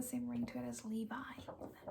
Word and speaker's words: Levi: longest time i thought that his name was levy like i thought that even though like levi jeans were pronounced levy and i thought that made more